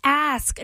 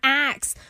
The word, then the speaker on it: ask: all of you haters who say it's ask, not ax. Both are grammatically correct. It just depends on the history of the word. The pronunciation ax has actually been part of the English language for centuries. In fact, once upon a time, aka as far back as the 8th century, ax was considered the correct pronunciation.